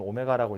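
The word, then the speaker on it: ω: 어쨌든 이렇게 생긴 녀석인데 그래서 이제 문제에서 자주 쓰는 관용어구는 뭐냐면 x세제곱은 1이라는 방정식에 한 허근을 오메가라고 할 때 W처럼 생겼는데 읽을 때는 오메가라고 읽어요.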